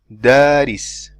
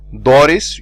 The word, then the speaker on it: daris: Now, daris, daris, and we said, see, you don't say doris, you don't say deres, you don't say deres, you say daris, daris. And while you're pronouncing it, you do not say daris, daris. See, you do not change how the alif sounds at the beginning from the last end of the alif. You say da, daris.